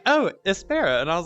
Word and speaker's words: Espera: Espera, but people say it 1,000 different ways.